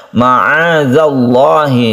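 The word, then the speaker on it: معاذ الله: sini ada Ma azzallah ada zal-nya yang ada titiknya jangan disamakan dengan dalil yang ada yang tidak ada titiknya cara membacanya ma'adzallahhi lafadz Allah yang didahului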